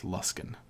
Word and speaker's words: Luskan: You pronounce this lus luskin like you don't you don't pronounce it like ran or can it's luskin but whatever the the last would be number three lost in charwood mad like me.